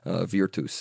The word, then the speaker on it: virtus: Virtue coming from a Latin word meaning sort of manliness, virtus, in sort of ecclesiastical pronunciation, pronounce the V.